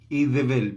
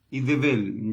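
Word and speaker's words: איזבל: lo vamos a ver, Idebel, porque en hebreo la Z se pronuncia como, es como una D pero con Z, Idebel, ¿ya?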